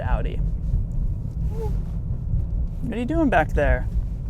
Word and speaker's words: Audi: way same with Audi if you hear anybody saying Audie I don't know well you know many people that would pronounce it like that it sounds kind of weird but I've always said outie are you doing back